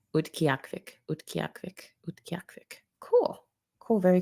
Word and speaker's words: Utqiagvik: Oh, this is the pronunciation. Utqiagvik. Utqiagvik.